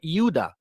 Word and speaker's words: Yehuda: the Yehuda or Judah or euda which is the true pronunciation of Judah they all fell in